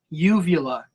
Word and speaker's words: uvula: lot of trouble with that word I can't pronounce it uvula uvula there you go that wasn't bad give